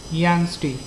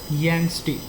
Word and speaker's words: Yangtze: It's called Yangtze. Pronounce it like Yangtze.